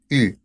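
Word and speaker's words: eu: su participio pasado sería u a pesar de que ustedes vean ahí una e y una u se va a pronunciar u como si fuera nada más una u y Bueno finalmente el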